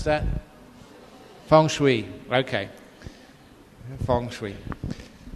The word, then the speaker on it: feng shui: we arrange furniture in your house how'd you pronounce that Fung Shui okay Fung Sui how many of you believe